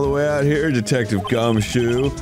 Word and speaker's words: Gumshoe: Right this way, Detective Fuckstick. Oh, boy. It's actually not pronounced Fuckstick. It's Gumshoe.